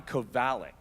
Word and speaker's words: Kovalic: You can read a name as often as you want, but it's always your own internal pronunciation of it. So I had it wrong. John Kovalic.